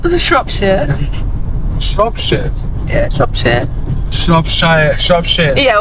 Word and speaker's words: Shropshire: I can't even really pronounce it properly, but it's Shropshire.